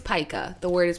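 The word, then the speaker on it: pica: one see I don't even I think it's paa the word is pronounced paa okay it's spelled p i c a yes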